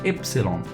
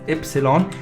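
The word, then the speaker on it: Ypsilon: has that sound epsilon why completely is called epsilon i i understand there are many syllables in here but y is pronounced as epsilon and in a letter in a word itself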